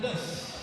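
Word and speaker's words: Döß: Fabian Döss. Döss. Just, Und er kommt aus der Laudeke. the strange B is pronounced like two S's.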